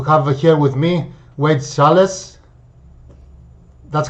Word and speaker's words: Schalles: I'm honored here to have here with me Wade Schalles. That's how you pronounce your name, right? Wade Schalles. Yeah, it rhymes with the city of Dallas. Schalles.